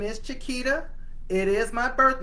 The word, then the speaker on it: Chiquita: So I always have told people that if you want to know how to pronounce my name, it is Chiquita, just like the banana, like the beer.